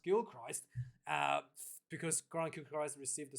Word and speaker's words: Gilchrist: I was told that it's pronounced Gilchrist because Grant Gilchrist received the suspension due to a high shot on Anthony Gillock against France.